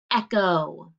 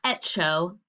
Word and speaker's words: echo: what does this say echo it's not show it's an echo echo like my little friend baby echo so what does the ch say in this word it says k that's right let's look at another